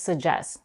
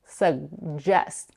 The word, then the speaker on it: suggest: they don't release it, suggest. Many people, however, drop the first g and only pronounce the j sound, suggest.